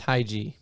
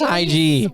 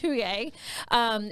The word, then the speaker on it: Hygge: By the way, that's Hygge. It's huge. I know it. I was like, wait, don't tell me. Don't when you spell it out, it's Hygge.